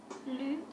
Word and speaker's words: Lou: Ça se prononce Lu ou Lou ? Lu.